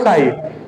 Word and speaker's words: psi: Schrodinger, only ध्यान रखो, साई PSI, P silent रहता है, साई, ठीक है, प्लस दूसरा वाला है ये, इसे बोलोगे साई भी।